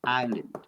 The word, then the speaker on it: island: The letter L is silent. Yes. Next one. Island.